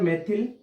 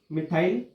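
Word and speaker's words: methyl: तो तीन है तो इसके लिए ट्राई, ट्राई, तीन CH3 है, CH3 को बोलते हैं मेथिल, मिथाइल, मेथिल या मिथाइल, ठीक है, प्रोनाउंसिएशन है ये, मीनिंग ये होती है, ठीक है।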